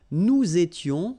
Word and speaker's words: nous étions: Okay, tu étais, il était, elle était, nous étions, little liaison here to make it more beautiful, nous étions, okay, final